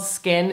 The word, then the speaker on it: SKKN: skincare line this is called skin it's spelled skkn so i already saw